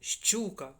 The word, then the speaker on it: щука: щука щука щука щука чуєте при вимові Ми чуємо два звуки звукосполучення ш ч буква ща не проста аж два звуки познача два приголосних звука коли